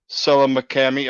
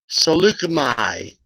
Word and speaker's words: Saleucami: a clone trooper from Utapau, a clone trooper from Selamakami. I pronounced that wrong. Saleucami. Saleucami.